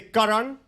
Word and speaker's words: Karan: Say it's pronounced Karan. Say Karan.